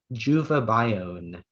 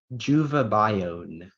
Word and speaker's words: juvabione: Your word is juvabione.